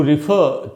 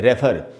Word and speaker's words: refer: ये दोस्तों REFER, और इसको हम अक्सर पढ़ लेते हैं रेफर। दोस्तों, इसको रेफर नहीं पढ़ना है, इसका करेक्ट प्रोनाउंसिएशन है रिफर, रिफर।